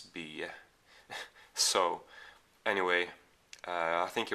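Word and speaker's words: Bye: by matthi B or spelled b-y-e is this last name spell so probably English speaking people will pronounce it matibai but it's be so anyway I think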